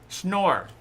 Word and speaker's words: Schnorr: Just tell me how to pronounce it. Schnorr. Okay. Schnorr.